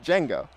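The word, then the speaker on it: Django: the Hawaii's first name the D is silent so it's Jenga Jenga third down in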